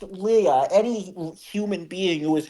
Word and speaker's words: Leah: liar, Laya, rad. pants on Liar. fire. I don't know if it's pronounced like that.